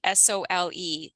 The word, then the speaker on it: Sole: the whole idea of Sole therapy, SOLE, pronounced Sole.